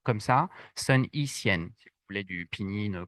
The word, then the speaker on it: Sun Yat-sen: On va commencer avec Sun Yat-sen.